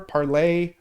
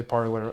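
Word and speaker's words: Parler: this app called parlor parlay it's pronounced it's spelled like the french verb of to speak but people say parlor i don't know parley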